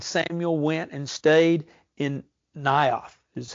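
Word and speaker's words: Naioth: him he and Samuel went and stayed in nth is how it's pronounced n a i o t h nth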